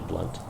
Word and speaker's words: Blount: Even though it looks like it's supposed to be pronounced Blount, it's actually Blount.